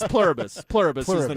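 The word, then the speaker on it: Pluribus: It's like Plurbus, I think is what it says, but I don't correct pronunciation? Yeah, it's Plurbus. Plurbus is the name, yeah.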